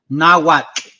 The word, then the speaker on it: Nahuatl: I do want to say that it's called Nahuatl.